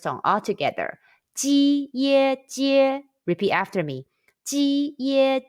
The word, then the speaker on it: jie: Ji ye jie. Repeat after me. Ji ye jie. Jie jie jie.